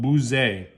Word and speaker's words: Buzet: above armanac is called B bu u z t i don't pronounce the T so it's called B